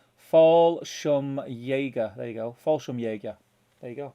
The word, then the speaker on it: Fallschirmjäger: And Will Rab is telling me how to pronounce Fallschirmjäger. There you go. Fallschirmjäger.